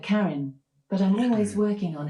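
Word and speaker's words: Karyn: How do you pronounce K A R Y N? I pronounced that Karen, but I'm always working on how I say things and I might not have it right.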